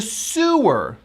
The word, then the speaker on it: sew: So there's a terrible smell coming from the sewer. Sewer. Now, the same spelling of that word is also a noun, and that's sower, because the verb is sow. Even though it's S-E-W, we pronounce it as O-O-O.